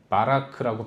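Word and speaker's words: ברך: 구약 성경의 언어인 히브리어로 복이라는 말은 바라크라고 발음합니다.이 빠라크라는 히브리어 단어가 원래의 의미가 하나님이라는 거예요.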